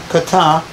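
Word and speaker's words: κατά: Now the word after comes from a Greek term which is pronounced kata.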